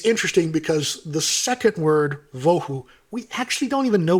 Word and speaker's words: vohu: But the word Vohu doesn't look like it's really a real word at all. It was just simply made up to rhyme with Tohu to emphasize the situation.